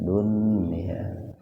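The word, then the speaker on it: دنيا: akan mempengaruhi hukum tajwid kayak ini dunia itu kalau terpisah Idgham Bighunnah kalau terpisah tapi dikarenakan satu kata ini maka dibacanya Idhar wajib artinya wajib dibaca jelas jadi dunia itu dunia ya Illah itu pakai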